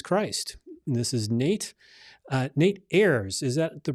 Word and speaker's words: Nate Ayers: Nate Ayers. Is that the right way That's to right.